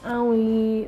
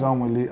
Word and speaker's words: Anwili: Well, my name is Anwili. Anwili, yeah. Anwili. Yeah, so our name is Anwili and my name Please, the real name is not, huh? It's Anwili.